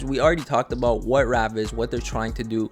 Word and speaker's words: Raave: boys this whole time i was thinking it's called rav but it's called ravi i have not seen this video yet this is a first time reaction the pronunciation of the platform is actually ravi really cool the way